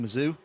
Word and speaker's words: Missouri: that last name uh I lived in Missouri for a while that's that's pronounced missou but uh anyway it is